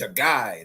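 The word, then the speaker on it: chaga: sure we indulge in the shaggai powder it's a guy that's how it's pronounced okay yeah and if a guy comes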